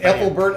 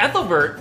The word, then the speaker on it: Ethelbert: they ate the Christians right how do you pronounce that Apple Bert of Kent oh saint ethelbert yes I think I think ethelbert was also